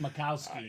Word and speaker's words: Majkowski: Yeah, it looks like Majkowski, but it's actually pronounced Makowski.